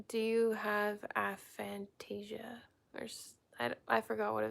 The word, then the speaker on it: aphantasia: You don't have aphantasia.